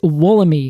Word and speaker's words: Wollemi: this word spelled w-o-l-l-e-m-i our pronunciation is woolly because it has an i at the end the E just before that it says uh and then the I the end just has that I sound right which is e